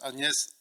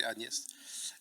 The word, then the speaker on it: Agnes: Una was Anes Agnes, sorry I pronounce that the French way, Anest and Eugene's second child, born six years after her brother Shane.